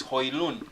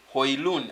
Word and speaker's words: Højlund: By the right pronunciation of this boy's name is Højlund. The D is silent. It's end on the N. The way you say honest, the H is silent.